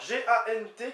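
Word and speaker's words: gant: Gan, alors G-A-N-T qui se prononce gan en théorie, donc c'est avec, par, pour, ça fait plein de choses.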